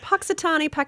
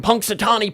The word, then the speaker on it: Punxsutawney: Is it Paxitani? How do you say it? Punxsutawney, Phil.